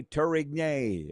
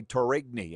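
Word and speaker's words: Durie: Andre Tury or as I used to say Andre Turrigy and I got thrown under the bus for that. So I had I had to learn how to say it right.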